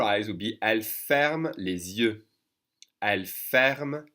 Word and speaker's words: les yeux: We're doing a little liaison here, connecting the supposedly silent S to the Y, to the vowel sound with the Z sound.